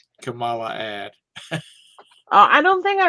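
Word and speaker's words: Kamala: uh at the endel Camala that's the way they they just said you've been say been saying it wrong racist it's camel like the animal of camel and then loot camel camela actually it's cackles but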